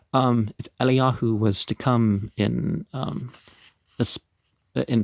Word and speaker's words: Eliyahu: Well, if Elijah was to come in the, you don't pronounce the J, if Eliyahu was to come in